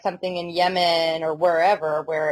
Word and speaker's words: Yemen: I don't know if there's like something in Yemen or wherever where it's just more I don't know it's pronounced Yaman oh my bad or like qar or gutter